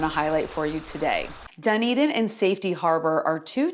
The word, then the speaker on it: Dunedin: Dunedin? It's Dunedin. Safety Harbor isn't as hard to pronounce.